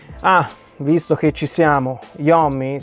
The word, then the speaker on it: Iommi: Ah, visto che ci siamo, Iommi si pronuncerebbe Iommi correttamente. Lo italianizzo, quindi concedetemelo, ok? Io lo chiamerò Tony Iommi.